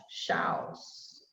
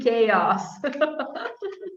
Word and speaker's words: chaos: brazilians when we look at this word all shouts okay it's actually chaos yeah um i don't know what the original